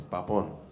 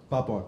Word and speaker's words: Papon: पापोन. पापोन ना? पापोन. हाँ, कुछ लोग पैपोन बोलते हैं, but जिसको जो मर्जी, लेकिन वैसे पापोन है, पाप ऑन है मेरा.